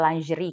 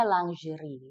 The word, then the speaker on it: Lingerie: memang kalau ini gue sekarang melihat Buka, namanya Buka Lingerie kan, Iya, bacanya lingerie, lingerie. lingerie, heeh.